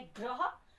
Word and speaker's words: ग्रह: ऐसे एक शब्द और लेते हैं, जैसे है ग्रह। तो ग आधा हो गया और र और अ मिलके बनाएंगे र, फिर ह और अ मिलके बनाएंगे ह, ये बन गया ग र ह।